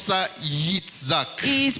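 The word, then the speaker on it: יצחק: prononce ça Yitzhak.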